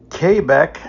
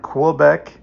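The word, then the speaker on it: Québec: This town is pronounced Kbeck, not Quebec.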